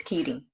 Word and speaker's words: Keedy: I want to call him Katie too because of the way that it's spelled, but it's Keedy.